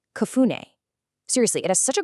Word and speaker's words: cafuné: The word is pronounced kune.